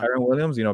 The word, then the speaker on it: Kyren Williams: Kyren Williams, Yeah. Kyren Williams, because they were unsure about the committee there.